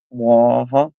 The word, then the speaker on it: Waha: starting in '93, we had what's called a Waha check. What? If you say Waha like the Duke, you're tired and need to go to bed. Waha.